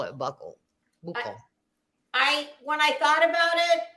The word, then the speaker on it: buccal: Actually, it was yesterday, that everyone mispronounces that. It is not buckle swab. It is buccal swab.